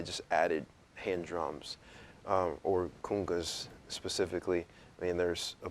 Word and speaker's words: conga: i was playing are called khungas or congas um i just say kunga because it's more of an african pronunciation um they are west